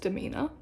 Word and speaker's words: DMNR: So it's abbreviated DMNR, and it's pronounced Demeanor.